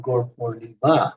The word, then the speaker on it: Gaur Purnima: जो आखिरी एक तरह से संस्कृत का जो But you can't say Gaur Purnima. हाँ, You have हम to जो say Gaur आखिरी Purnima because the A is emphasized on Gaur Purnima.